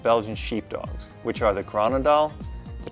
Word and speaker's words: Groenendael: They are one of the 4 varieties of Belgian sheepdogs, which are the Groenendael, the Tervuren, the Lakenois, and the Malinois.